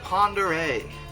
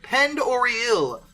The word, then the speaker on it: Pend Oreille: tale of the true ghost train beneath lake ponderay lake ponder a which yes that is absolutely